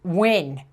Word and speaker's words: Ngo: Now, look, Asians, you can't just throw a bunch of consonants in the middle of your name and tell us that it's pronounced win. I'm gonna say Ngo, because that's what I see.